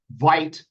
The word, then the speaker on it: Vite: We're going to use Vite, I think is how it's pronounced.